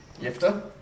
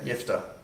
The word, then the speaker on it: Jephthah: Jephthah? Is that how- Interesting spelling. So you just say soft J? Yeah, soft J. Jephthah.